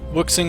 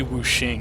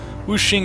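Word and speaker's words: Wuxing: needs a helping hand wooking Incorporated are the preeminent is it it's probably wooing isn't it I've been pronouncing that wrong like for years now it's awful woing Incorporated are the preeminent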